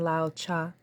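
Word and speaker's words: Lao Tse: if you're interested in Lao cha his name is spelled l-a-o -t-s-e Lao cha let us continue space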